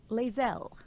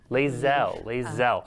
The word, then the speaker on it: Lae'zel: Lae'zel, am I pronouncing that right? Lae'zel. Lae'zel.